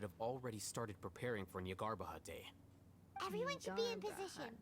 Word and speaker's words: Nyagarbha Day: Okay, Nyagarbha Day. The That's how you sages and pronounce core it.